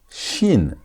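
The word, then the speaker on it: שִׁין: Shin. It's not sin. It's shin.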